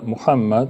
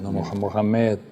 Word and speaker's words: Muhammad: venida del profeta muhammad Mahoma conocido como moma una deformación Mahoma de muhammad en inglés y en francés Es más cerca la pronunciación Mohamed es más cercano a muhammad que lo que los españoles no se esforzaron mucho por pronunciarlo pero bueno mammad que